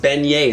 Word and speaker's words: beignets: Also, it's pronounced beignets.